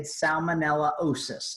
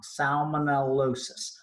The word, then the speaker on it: salmonellosis: up against 15 seated Salmonella osis if I pronounced that wrong salmonellosis okay so Lydia Farfan